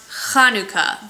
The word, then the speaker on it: Hanukkah: it is actually pronounced kanuka. The first letter of the Hebrew word makes a sound. It's very guttural and so you'll hear a lot of sounds.